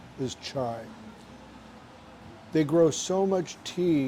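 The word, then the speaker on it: çay: t t t and i should say chai because that's the way it's pronounced here is chai they grow so much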